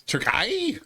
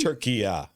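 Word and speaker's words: Türkiye: way turkey spelled now they've gone through a name change you didn't know that it's tury it's say it tury turkey yeah it's not tury no it's called Tura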